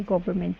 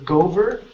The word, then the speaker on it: government: people okay good good the only word here is government instead of Gover okay government try that government good one more time